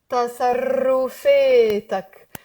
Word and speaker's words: تصرفاتك: 5 syllables. Ta, sa, ru, fe, tak. تصرفاتك. Guys, very important for those of you from the States, Canada, etc., English speakers. We have to get rid of the r, okay?